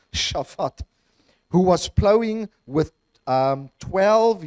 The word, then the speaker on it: Shaphat: And I know I'm pronouncing that correctly because I watched the Mr. Bean movie once. And instead of saying Susan, you say Shushan, okay? So based on that life skills, it's Shaphat, who was plowing with